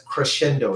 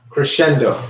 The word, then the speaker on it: crescendo: little in volume that is what's known as Crescendo everybody say that Crescendo actually I'm going to